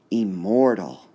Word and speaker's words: immortal: Here's our next word, immortal, immortal, immortal, immortal, immortal, immortal, immortal. So we have 3 syllables. Which part would be stressed? Immortal, unstressed, stressed, unstressed.